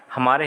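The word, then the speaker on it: Homer: 20 में सही है होम आफ वर्ड्स तिल एंड डोंट स्पेंसर यह जो होमर है इसको आप लोग उम्र पड़ते हैं यह और इसमें साइलेंट होता है तो इसको होमा पढ़ा जाता है वर्क एंड डोंट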